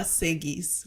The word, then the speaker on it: Segi: I thought that it was that SE would also be pronounced sh in this case, but apparently not. So I'm glad to be corrected.